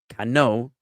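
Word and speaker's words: כנו: Et, the object, the kior, the laver, the et kano, and it's kano, which I can show you the word, but I don't have the citation to navigate to the verse immediately.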